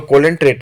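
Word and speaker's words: Coelenterata: भी जाना जाता है सी साइलेंट है तो कोलें ट्रेट को हम लोग नाइजेरिया भी कहते हैं तो नाइजेरिया के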